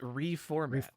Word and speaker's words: RE4MAT: Believe it or not, RE4MAT is actually pronounced reformat.